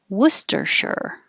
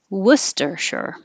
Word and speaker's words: Worcestershire: It's a U spelling here because there's no regular English letter that represents the vowel, as in took and good and would. So that's what you're looking for. Don't round your lips for the vowel, but you do have to round your lips for the W. W. Don't keep them rounded.